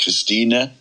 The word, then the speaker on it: Christine: actually spelt christine but because she's german she pronounces it christina with the e on the end so we've been here